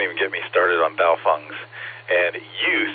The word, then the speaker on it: Baofeng: And don't even get me started on Baofungs. And you said it correctly. Baofeng rhymes with cow dung.